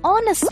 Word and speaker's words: honest: We also say an hour and an honest man. But why? Because even though these words begin with a consonant, the letter H is silent.